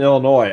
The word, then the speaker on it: Illinois: end of the state like there's no s in illinois either so you can always tell somebody who's not from illinois because they say illinois there's no way i've